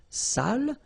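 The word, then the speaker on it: sale: without the accent so if you don't put the accent it means dirty and then you pronounce it Sal but in that case here okay you put the accent and it's quite important because in that case it means salted okay Sally okay say s say Delo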